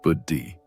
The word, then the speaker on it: buddhi: This kind of gentle self-incquiry practiced consistently over time, began to create what the ancient texts call buddhi, pronounced buddhi, which means discriminating wisdom or higher intelligence.